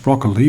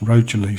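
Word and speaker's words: Rocherlea: I thought it was pronounced broccoli, but I saw talking to some ladies in a cafe the other day and they told me it's pronounced Rochelle, so I want to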